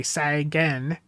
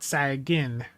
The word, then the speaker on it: Sagan: I need to train myself to say Sagan, not Sagin.